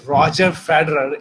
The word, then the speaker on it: Roger Federer: So I asked Nico, that's Roger Federer is the correct way of pronouncing it.